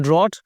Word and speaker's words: drought: the crops have suffered from a long drought यानी सूखा, DROUGHT, यानी जब अकाल पड़ता है उसको बोलते हैं ड्रॉट, और सही स्पेलिंग है DROUGHT।